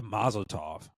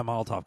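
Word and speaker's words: Molotov: She had the mazotov uh not the maztov not maz. What's it called? Um the cocktail. Yeah. She had Yeah, moltov cocktail.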